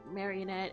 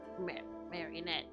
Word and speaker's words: Marinette: at this point uh Mar marionette and I he say Marinette I keep saying her name wrong and I realized that